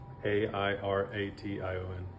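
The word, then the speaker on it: aeration: do you spell that a i r a t i o n oh it's literally like airation okay instead of Aviation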